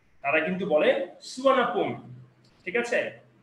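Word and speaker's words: สุวรรณภูมิ: The name সুবর্ণভূমি is pronounced as সুয়ানাপুম।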